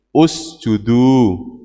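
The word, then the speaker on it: اسجدوا: Ini bacanya apa? I apa U? Nah, dihitung huruf ketiga. 1, 2, 3. Kalau ini doma berarti ini U. Usjudu.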